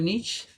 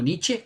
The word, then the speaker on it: Nietzsche: Yo le pregunto, ¿usted sabe quién fue Nietzsche? O Nietzsche, como le dicen por allí, pero no se dice así. Nietzsche, uno de los filósofos más ateos que ha existido, tenía padres cristianos, predicadores.